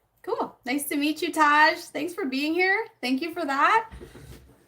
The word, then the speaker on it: Taj: Oh, no, Taj is how you say it.